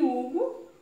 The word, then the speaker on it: Hugo: E Hugo também, né? A pronúncia começa a partir do U, né?